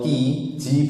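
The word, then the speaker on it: qi: cukup atau berlebih, energi atau ji bacanya ji ya, ki itu bacanya ji yang cukup.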